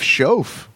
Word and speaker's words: Schoaf: Jeff Schoaf, still rhyming with loaf.